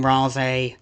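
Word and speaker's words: Ralsei: I'll go back to saying Rale. That's probably the correct pronunciation because that's how Susie says it in uh chapter 2, right?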